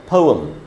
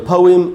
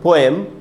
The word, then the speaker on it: poem: तो पोइम या पोअम हम लोग जो बोलते हैं इंग्लिश में कविता को पोएम, पोएम नहीं होगा दोस्तों, एकदम गलत उच्चारण है। तो पोइम या पोअम इसका करेक्ट प्रोनाउंसिएशन है।